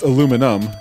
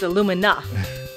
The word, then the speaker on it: Illumina: Well, it's pronounced Aluminum, but anyway. I don't see an M at the end. It's Illumina.